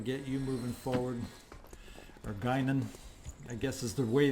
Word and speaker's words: Guinan: Or Guinan, I guess is the way they pronounce it on the show.